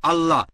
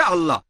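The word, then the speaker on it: الله: এখন এটাই তাদের ভাষা একইভাবে আমরা জানি সঠিক উচ্চারণটা হচ্ছে আল্লাহ তারা বলে এলা আমরা বলি আল্লাহ সমস্যা নেই সঠিক উচ্চারণটা হচ্ছে আল্লাহ পরে বুঝলেন তিনি তিনি যেটা করেছেন তাতে কোরআনের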